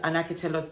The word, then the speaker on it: Anacatelos: give me a tutorial on how to actually pronounce their name, which is Anacatelos.